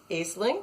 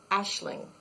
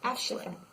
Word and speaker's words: Aisling: And it's pronounced with an SH sound. It's Aisling. Oh, wow. Aisling.